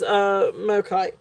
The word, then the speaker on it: Mokite: It is Mokite. Yeah, that's how you spell it.